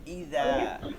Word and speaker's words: إذا: ইদা, হামজা জের ই, জাল খালি আলিফ জবর দা, এই যে জাল যেটা আছে এটা হচ্ছে জিহ্বার আগা থেকে উচ্চারণ করতে হবে, জিহ্বার আগা, জিহ্বার আগা নরম করে।